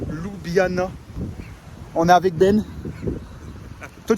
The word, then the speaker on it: Ljubljana: Aujourd'hui, Coupe d'Europe, Conference League face à Ljubljana. On est avec Ben. Toi, tu prononces comment?